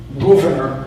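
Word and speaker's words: Gouverneur: Governor Morris or Governor if it's probably pronounced in the 18th century sense.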